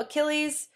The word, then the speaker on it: Achilles: so we'll talk about achilles that's how you spell it's the it's very greek looking with the ch pronounced as a k okay so it's about achilles the greatest of all